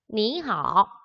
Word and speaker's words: 你好: 니하오, 니하오. 이때 삼성. 표기는 삼성이지만 삼성이 왔을 때 앞에 있는 거 이성으로 올라가는 부분만 발음해 줍니다. 니하오 라고 발음되는 거 기억해 주세요.